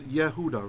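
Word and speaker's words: יהודה: When you have a word like Judah or Jerusalem, those words are spelled with a vocal schwa underneath. You see the schwa? This is Yehuda, right?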